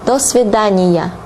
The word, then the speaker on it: до свидания: Now, saying goodbye in Russian would be до свидания. До свидания. До свидания. Although there are two words, here you pronounce it as one word.